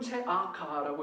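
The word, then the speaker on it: צעקה: 공의를 체다카라고 하는데 부르짖음은 체아카라고 해서 거의 발음이 비슷한 언어 유희를 사용하는 본문입니다.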